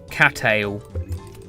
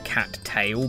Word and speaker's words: Cattail: cattail. Unless you actually like pronounce the T twice and go cattail, but that I don't think I've don't think anyone else normally says that.